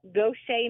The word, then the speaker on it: Gautier: My husband was from Michigan, and he was sent to Gaucher, Mississippi. And as you know, Gaucher is not spelled Gaucher. It's spelled Gautier.